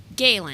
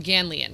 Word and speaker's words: Galen: Galen. Gayen. Okay. I'm reading Brian's book right now. So, I want can want to call him Ganian, but that's not it. It's Galen.